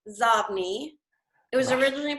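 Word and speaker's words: Xobni: pronounce that and what it means that is pronounced zob me it was originally pronounces OD but then they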